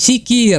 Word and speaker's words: Sakeer: Well, so you can also hear, guys, what is the pronunciation of the global name sakir , so it's sikir, okay?